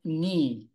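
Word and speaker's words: knee: right then we have kne KN is the part where you can bend Okay this part here is the kne all right welcome and then KN you pronounce without the k again and then the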